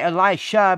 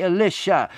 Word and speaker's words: Elisha: his you know a lot of people say elisha but it's really elisha okay it's really how you pronounce it just like a lot of people